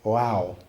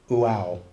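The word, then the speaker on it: Waw: Okay, there's this character called, you pronounce it wow. Okay, wow.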